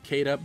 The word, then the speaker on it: Caeda: going to be getting Caeda as well, or Sheeta for those of you that prefer the Japanese pronunciation.